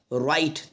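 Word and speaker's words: write: हमने लिखा है राइट अब देखो राइट में जो वर्ड है बच्चों डब्लू डब्लू यहां पे साइलेंट है डब्लू यहां पे साइलेंट है अगर आर के पहले डब्लू आता है तो बच्चों डब्लू साइलेंट होता है इस बात को भी आप याद रखिएगा तो इसको पढ़ा जाएगा राइट राइट पढ़ा जाएगा इसी तरह से नेक्स्ट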